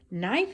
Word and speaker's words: knife: And in that same column, you'll notice knife is the same way. There we have the K, which is silent. We don't hear it.